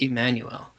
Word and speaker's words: Jmmanuel: It wasn't that J sound. It was a E sound. It was to pronounce the I, the letter I.